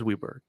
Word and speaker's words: Weiberg: It's Weiberg, isn't it? Isn't it pronounced Weiberg? He says Weberg.